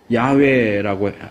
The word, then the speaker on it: 야훼: 근데 그러한 사실에 대한 연구가 제대로 돼 있지 않던 시대에 이 본문을 번역하는 과정에서 야훼라고 읽어야 될 이 신명사문자에 아도나이의 모음을 붙여서 읽다 보니까 여호와라고 하는 괴상망측한 이름이 탄생하게 된 거예요.